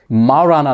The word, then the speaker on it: Majorana: bytes के episode में माराना नाम है इसका इसमें जे है जे साइलेंट है माना वन नाम है